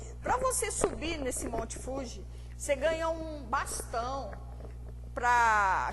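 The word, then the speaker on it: 富士: E lá no fundo você vê o Monte Fuji, que a pronúncia certa é Fuji e não Fuji. O J lá no Brasil se pronuncia Di, o Gi no caso se pronuncia Di, né?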